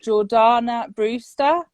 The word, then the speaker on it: Jordana Brewster: like the acting careers of no my name pronunciation at the moment is so bad so is it jordana brewster yeah yes so it launched it was her